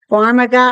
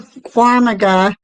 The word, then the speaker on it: Farmiga: Eric, how do you pronounce the lady that played Lorraine Warren, her last name? Farmiga?